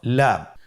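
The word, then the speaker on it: لام: পরবর্তী হরফ লাম। লাম হরফটি উচ্চারণের ক্ষেত্রে অবশ্যই বারিক হবে এবং তিন আলিফ টেনে পড়তে হবে।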